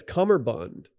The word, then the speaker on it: cummerbund: be called a cummerbund it's not cumber i don't think so is it who named it no one actually pronounces or enunciates the bee what a weird name for that garment yeah it's cummerbund yeah horny week rolls